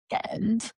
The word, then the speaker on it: Cannes: Can I please just say one thing? Please, It's pronounced can, not यस, cans, not cans. The S is silent.